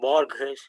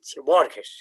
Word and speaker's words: Borges: I'm not pronouncing his name right away. It's called Borges. Borgsh. Borges.